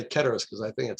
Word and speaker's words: ceteris: as i can tell americans tend towards ceteris and it's the brits who say keturis but i'm going to say ketters because i think it